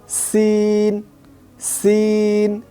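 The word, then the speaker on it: سين: প্রিয় দর্শক, আমরা যদি একসাথে বলি সিন, সিন।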